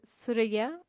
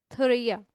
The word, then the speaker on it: Thouria: First of all, her name is Surya as pronounced in Arabic, but in uh English we pronounce it thya and she born in Morocco, raised in Algeria